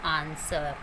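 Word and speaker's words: answer: भी डब्ल्यू आता है तो डब्ल्यू वहाँ पर साइलेंट रहता है। For example आंसर, यू कैन सी डब्ल्यू से पहले यहाँ पर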